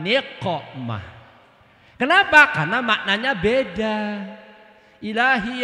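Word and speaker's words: نقمة: Ilahi salimil ummah minal afati wan ni'mah. Salah bacaannya, bukan ain tapi qaf. Ilahi salimil ummah minal afati wan niqmah.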